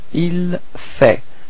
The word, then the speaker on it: il fait: So il fait, same pronunciation, so final T is not pronounced.